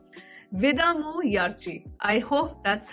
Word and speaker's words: Vidaamuyarchi: So this movie is called Vidamu Yarchi. I hope that's how it's pronounced. Vidamu Yarchi, yeah, Vidamu Yarchi, because it's double A.